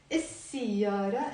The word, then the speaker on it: السيارة: We will write alif lam السيارة, but because sin is a sun letter, we don't pronounce the lam. We will just say السيارة instead of السيارة.